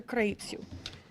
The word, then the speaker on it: Craiutu: radicals please join me in welcoming Dr kitu thank you Macy for the correct pronunciation of my last name which a is